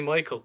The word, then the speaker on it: Maikl: out is it actually michael coherin it's actually michael but it's not spelt like michael it's spelled m-a-i-k-l which is even